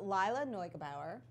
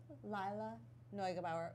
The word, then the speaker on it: Lila Neugebauer: So Lila Neugebauer. I looked up how to say her name. Say it again? Lila Neugebauer.